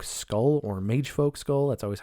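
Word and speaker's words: Mægfolc: Next item I'm going to read is called Mag Folk Skull or Mage Folk Skull. That's always how I pronounced it. It's M- AE G F O LC. Uh Mag Folk Skull as it's pronounced in a vowed.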